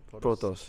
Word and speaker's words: Protoss: Protoss.